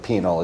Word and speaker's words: penal: In fact, I just realized like the first part of penal is exactly like penis and then the second it changes the second syllable is where it changes. Not penis at all. Turns into a different word.